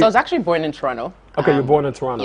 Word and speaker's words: Toronto: cannot say Toronto. The second T is silent. So Yeah, it's Toronto.